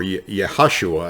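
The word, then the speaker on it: Yehoshua: or hose hoshaya or yahashua actually is how it's pronounced in hebrew was his name originally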